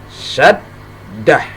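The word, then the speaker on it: شدة: syaddatun. Jadi ketika dal bertasydid, ya, ini maka cara membacanya ditekan. Gimana cara menekannya? Syaddatun. Syaddatun. Nah, maka dibaca syaddah. Ya, kalau diberhentikan menjadi syaddah.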